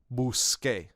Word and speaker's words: busqué: Busqué, I looked for, becomes busqué. We want to keep the k sound. Busqué, buscaste, buscó. I looked for, you looked for, she looked for. Buscamos, buscasteis, buscaron. That's how you're going to pronounce that all the way through the paradigm.